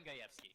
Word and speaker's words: Gajewski: And today I am here with the legendary Gajewski. Did I say it right? Oh yeah, they're gonna talk about designing Raven. Gajewski.